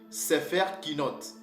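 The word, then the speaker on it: ספר קינות: de lamentation en hébreu on dit c'est faire qui note où on peut aussi dire Megui là qui note qui veut dire rouleau de complainte ou de lamentations c'est comme ça que nos perds prononcer ce mot là pour dire livre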